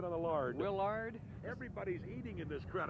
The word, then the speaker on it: Willard: We're on a first syllable besard. I said on the lard. Willard.